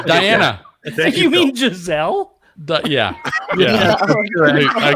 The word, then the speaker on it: Giselle: I didn't know how to pronounce. Okay, here we go. Diana. Thank You mean Phil. Giselle? Yeah. I called her Giesel or Diana?